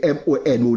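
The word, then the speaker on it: Monod: n Frédéric Mono n même les mono ça écrit M o N o d généralement prononcer le mono Nord ça pas connais mais obligé apprendre prononcer nom ça premièrement parce que m'habit t sur radio france international prend contact certains de nombre de européens il dit c'est mono pour prononcer tant qu'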